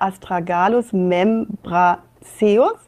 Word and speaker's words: Astragalus membranaceus: Und richtig ausgesprochen heißt diese Pflanze Astragalus membranaceus.